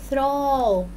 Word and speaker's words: throw: throw. throw ادي هنا تي وكمان بعدها ايه؟ حرف اتش تبقى على بعضها تي اتش تنطق ايه؟ ث. throw يرمي.